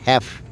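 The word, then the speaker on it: half: দেখুন হ্যাভ মন অর্ধচন্দ্র এটা উচ্চারণটা কিন্তু নট হাফ আমরা উচ্চারণ করি হাফ এটা উচ্চারণ হলো হ্যাফ মাঝখানে কিছু ইংরেজি লেসনও দেই গাছের কোন বিকল্প নেই।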